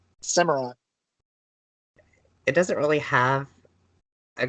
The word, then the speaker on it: Samurott: And Samurot's, how do you say its name? Samurott.